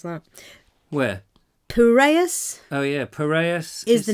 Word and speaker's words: Piraeus: How do you pronounce that? Where? Piraeus Oh, yeah.